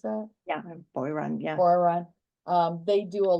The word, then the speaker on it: Boiron: Right, and I've seen, like, what's the company, Boron, how do you pronounce that? Yeah, Boiron, yeah.